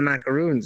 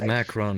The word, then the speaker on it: macaron: Actually, technically it's pronounced macaron. It's not a macaroon. Macaroon is something different.